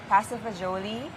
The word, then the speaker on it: pasta fagioli: So it's pasta fagioli. Yes. And yes, fagioli. And in an American setting, they say it pasta faioli. So it's Aioli. different. And then the Italian Americans would say pasta fagioli.